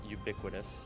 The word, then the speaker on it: ubiquitous: it is it uh on the final syllable is it's it would just be us so it's ubiquitous or like it's not even an us it's just an like ubiquitous ubiquitous okay